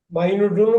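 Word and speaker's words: minute: நிறைய விஷயம் இப்ப துல்லியமாக இத பாருங்க இங்கிலீஷ்ல இத எப்படி படிப்பீங்க மைனூட்னு படிக்கலாம் மினிட்னு படிக்கலாம் மினிட்னு படிச்சா 60 செகண்ட் மைனூட்ன்னு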